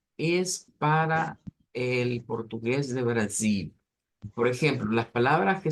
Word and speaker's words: Brasil: acento de portugués brasileño, decimos Brasil y decimos Portugal. Se cambia la L por U, pero eso solo sucede en el acento del portugués do Brasil.